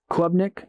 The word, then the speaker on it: Klubnik: That's not how you spell it. Say it. Klubnik.